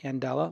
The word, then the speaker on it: Andela: met Jeremy Johnson from and Ella that's pronounced a n de la and Ella like Mandela as in Nelson and they were founded